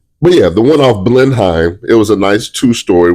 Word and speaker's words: Blenheim: it was off Blenheim off Blenheim I'm glad I pronounced that word um correct listen everybody every time they call me they say that blim that's great I love